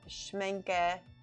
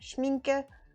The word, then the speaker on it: Schmincke: so i got some schmenke schmenke there we go i'm pronouncing it wrong schmincke prime primacryl this is